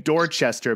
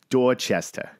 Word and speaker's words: Dorchester: and writers and yeah i'm saying dorchester but it's that's not the correct pronunciation if you're from there right you got to say dorchester dorchester and people who are